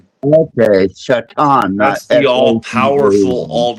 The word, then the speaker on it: shaitan: ] you say that no seriously shaitan shaitan h a i t an okay shaitan the all powerful full all knowing one.